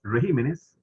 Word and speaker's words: regímenes: clases de español ok regímenes tiene el acento en préstamos en plural verdad y tiene el acento la de atrás pero cuando pasa a singular la tibia se brincan para atrás entonces en singular se dice régimen pero aquí régimen correcto